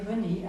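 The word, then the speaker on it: Renée: Elle a dû s'appeler René avec un E muet, cette merveilleuse lettre que l'on n'entend pas, mais qui est là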